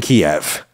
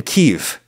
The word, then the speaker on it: Kyiv: It's basically Chicken Kiev. Or Chicken Kiev, I believe we're trying to say now, to favor the native Ukrainian pronunciation.